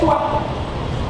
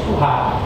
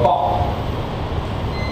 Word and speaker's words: Tuah: So TWH cannot be pronounced or read as Tuah. Instead, it should be read as Tuha or Toh.